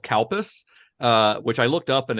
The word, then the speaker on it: Calpis: When I wrote it down, I was like, the way that this is going to sound when an American pronounces it is that it's going to sound like cow piss.